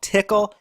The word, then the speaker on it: Tcl: and Nifty scripting language it's also called tickle you know we've come